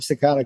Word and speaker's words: saccadic: You have saccadic.